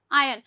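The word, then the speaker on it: iron: आयन। ध्यान रखना are silent है। आयन बोला जाएगा।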